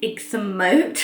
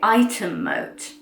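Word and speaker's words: Ightham Mote: apparently you don't say Ixham Moat, that's how it's spelt, but it's one of those funny English words that's not pronounced at all the way it's spelt. So you actually say Item Moat.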